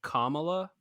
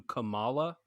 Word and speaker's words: Kamala: edit maybe right here i think her name is pronounced kamala as opposed to kamala uh do you care